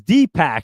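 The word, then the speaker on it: Dipak: And let me take a look over here cuz DPAC over there, D I P A K JV, it's Dpac. You actually told me how to pronounce your name. It's not D. It's DPAC.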